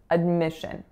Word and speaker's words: admission: to a given school so the first syllable is schwa second syllable is our winner it's a lacks it and then the third syllable is a schwa again admission the next word is